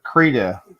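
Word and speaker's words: Krita: it's not yeah autodesk yeah sketchbook and uh creda is really good creta let me write this down how do you spell it k-r-i-t-a i believe freedom yeah something of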